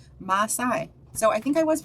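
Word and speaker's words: Maasai: about that uh still oh there we go pronunciation Masai so I think I was pronouncing it right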